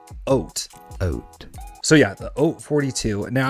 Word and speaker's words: Haute: Nope, not hot, Hoyt, or any of the things. It's actually pronounced Haute.